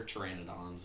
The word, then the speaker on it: pteranodon: They're pteranodons is the name. PT is how uh the P is silent in pteranodon.